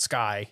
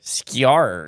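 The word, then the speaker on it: Skyr: really pronounce this one scar it's like Sky okay but it's Icelandic so it's not Sky skar SK scar gobler is the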